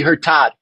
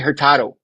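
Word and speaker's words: Hurtado: She said Larry Herertad. Did you miss the O at the end? It's Larry Herertado.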